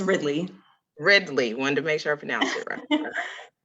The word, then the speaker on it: Ridley: All right, next we have Is it Ridley or Ridley? It's Ridley.